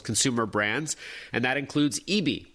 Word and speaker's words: ibi: He's Director of Product Marketing at Western Digital's Consumer Brands, and that includes EB by SanDisk. Again, it's spelled IBI.